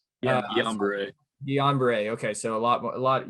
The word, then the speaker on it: Guillain-Barré: Guillain-Barré.